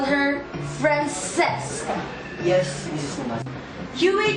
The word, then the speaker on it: Francesca: Francisca? No, Francesca. But why Francesca? You know that in New York, people call her Francesca. That is how Americans pronounce her name.